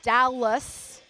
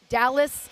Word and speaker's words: Dahlhus: The fudge company is called Dallas Fudge, and it's DAHLHUS. Dallas. You guys can correct me if I'm saying it wrong.